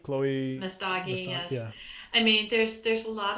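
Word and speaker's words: Messdaghi: Chloe, I can never pronounce her last name correctly. Can you? Oh, Mesdagi, Chloe. Mesdagi, yes.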